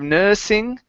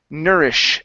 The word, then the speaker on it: nourish: available nourishing food okay give me a good sh there nourish instead of nursing nourish nourishing nourishing okay very